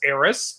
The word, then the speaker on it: Eris: Yeah, Eris is Eris.